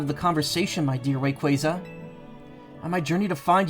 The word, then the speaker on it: Rayquaza: It is Rayquaza, though. Pokemon Company was very adamant about um making sure people knew that at the last VGC.